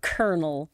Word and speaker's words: colonel: that a sound although depending on pronunciation some people might say kol they might put that o on there Poss for me it's kernel kernel that's how you're colel